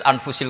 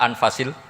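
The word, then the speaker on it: أنفس: Di sini ditulis anfusil kutub. Kalau saya baca anfasil kutub karena maknanya kitab ter baik. Kalau kitab terbaik bacanya bukan anfus tapi apa? Anfas.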